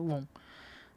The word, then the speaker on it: won: A gente pronuncia won.